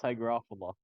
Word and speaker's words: Hygrophila: though you pronounce hydrophila is it actually it's pronounced hygrophila oh my God okay how gruffle it is